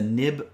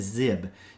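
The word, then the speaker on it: xib: And you'll sometimes hear this referred to as a nib file as well, but that's not technically accurate. It is pronounced as zib.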